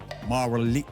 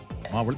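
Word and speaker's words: Mavalli: सर बहुत ही सर इसका इसका उच्चारण कैसे होता है मुझे बताइए माव्ली माव्ली बहुत ही फेमस जी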